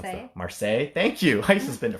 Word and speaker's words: Marseille: I don't actually know how to pronounce that. Marseille.